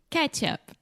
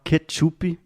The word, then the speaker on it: ketchup: Se você falar ketchup pro americano, ele vai ficar totalmente perdido. Yeah. So, say it with me, Alexia. Ketchup. Ketchup. Yes. It's very similar to the pronunciation of catch up.